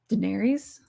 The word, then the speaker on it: Daenerys: I think that's part of why Daenerys, is that how you pronounce it? Daenerys, yeah.